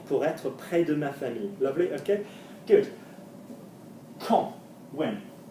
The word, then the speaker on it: famille: Famille, obviously, is an odd one to pronounce because we should pronounce it famille, like ville, okay? It's pronounced like the girl, the word daughter and girl. So, une fille. Yeah, la famille.